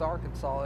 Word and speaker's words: Arkansas: Yeah, it's spelled Arkansas, but it's pronounced Arkansas.